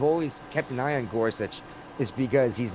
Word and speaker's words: Gorsuch: How do you pronounce that name? Gorsuch.